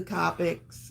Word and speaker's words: Copic: Don't send me an email about pronunciation of the Copics, okay? You Copic said it wrong. Rhymes with topic.